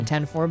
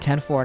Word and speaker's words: 104: But here's the important part: is that when it zooms out, you see the 10-4 building. And yes, that's how you pronounce it, 10-4, not 104.